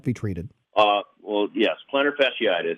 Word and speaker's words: plantar fasciitis: walk a lot but about what to call plantar fascitis did I say it correctly is that pretty common with runners and how can that be treated ah well yes plantar fasciitis it's a disorder of connective tissue which supports